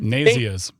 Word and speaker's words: Nazianz: Okay, Nazianz and then you've got but it doesn't it doesn't spell that way or sound that way. Yeah, no, no, this this spell the spelling of that town is off-putting at best.